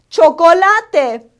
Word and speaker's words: chocolate: The word for chocolate in Spanish is chocolate. It's spelled the same, but we pronounce all the letters in the word.